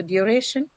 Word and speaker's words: duration: So because you have the shin suffix and penultimate syllable is what is going to get the stress in such case, right?